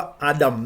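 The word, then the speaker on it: אדם: ชั่ว ต้น หนึ่ง ด้วย คำ ว่า มนุษย์ ก็ ออก เสียง ว่า อาดัม ใน ภาษา ฮีบรู ครับ เพราะ มี ราก ศัพท์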